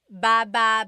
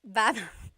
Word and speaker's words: baba: Emphasis is on the second syllable syllable. That means to go down. Baba ba like going down an elevator.